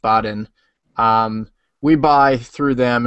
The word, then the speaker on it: Baden: be completely honest uh Baden b a d n pronounced Baden um we buy through